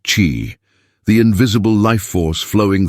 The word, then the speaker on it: qi: In ancient China, health was seen not just as a matter of flesh and blood, but of energy, specifically qi, pronounced qi, the invisible life force flowing through all living things.